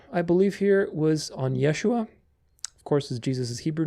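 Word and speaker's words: ישוע: wild theories about that Jesus's Hebrew name was pronounced Yeshua Yeshua or Y yosua Yoshua probably the older version yosua but it's Yeshua there's also a guttural on the shin sound the sh I don't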